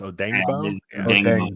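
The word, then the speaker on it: Odeyingbo: Dio Odangbo, right? It's Odangbo.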